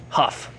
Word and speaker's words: Hough: Zach an Julian huh woof is that how you say it like a horse's foot Oh like a huff she did a really